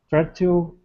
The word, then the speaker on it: fertile: so this is because I'm from the UK, I actually pronounce it fertile, but fertile is okay as well because that's like more like the US pronunciation, so no problem.